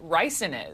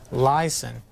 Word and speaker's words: ricin: with beings or anything I was even pronouncing and properly I thought it was lyson and they had you know correct me on that of course what